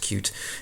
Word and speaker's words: Qt: qt widget so we're using the cute or qt it's pronounced cute environment with this what this